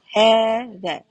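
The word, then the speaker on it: ذلك: So, still we will be pronouncing as "thaalika". That goes to "thaalika", too. "Thaalika" with alif. But when we pronounce the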